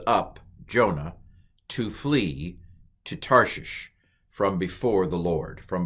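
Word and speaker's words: תרשיש: and a Sheen um and a hay so tar shisha any guesses to what that word is tarshi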